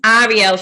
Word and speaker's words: Arielle: So my name is Arielle Free. It's spelled Arielle. Arielle is the male version of my name. So like if you say French, ELLE is female. That's obviously how you say my name.